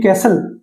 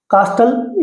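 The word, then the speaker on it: castle: सी एस टी एल ई कैसल कास्टल या कैस्टले नहीं होता।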